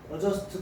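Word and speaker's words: adjust: 거는 시험에 잘 나오는데이 어저스트는 묵음이야 알았죠 스트라고 하면 안 돼 스라고 합니다 adust 2가 뭐뭐에 적응하다이 맞죠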